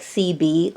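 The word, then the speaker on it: Sebi: e SE bi but it's pronounced like CB like the radio or the communication device um he is a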